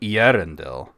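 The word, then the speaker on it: Eärendil: Uh it would be Arendel. Uh you do want to put the emphasis on the second to last um syllable of any Elvish word.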